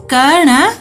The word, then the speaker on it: कर्ण: यहाँ रेफ नहीं लगा है, कन। और यहाँ रेफ लगा है, तो इसे हम कैसे उच्चारण करेंगे? कर्ण, कर्ण। और ये र क के बाद वाले वर्ण के ऊपर लगेगा, कर्ण।